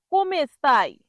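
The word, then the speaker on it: come stai: মনে রাখবেন, কোম স্তেই হবে না, কোমে স্তাই হবে।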